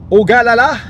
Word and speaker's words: Ogallala: Last pit stop at another Walmart in Ogallala, Nebraska.